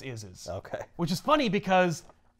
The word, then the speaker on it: Isz: where he was like, it's pronounced is, like IS.